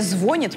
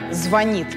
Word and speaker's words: звонит: пока не сдают позиций ударение звонят многие считают маркером неграмотности договорить так не надо ни один словарь на такой вариант разрешение не дает только звонит правда сверлит точно такая же ошибка как и звонит но она почему-то не